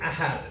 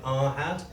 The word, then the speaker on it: Ahad: my name is I had now I had is quite difficult then I know this because if you miss pronounce all my life my teachers pronounced it our hat I'm from a place